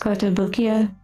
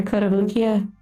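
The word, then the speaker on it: Kotobukiya: However, we do have some other models we're going to be building in the future from I believe it's pronounced Cottobukia or Kotabukia and I'm really looking forward to those models.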